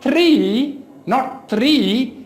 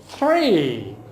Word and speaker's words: three: So they would be saying three, but the fact is that it is not the, it is not tha sound, it is tha sound, tha. So the correct pronunciation is not three, it is three.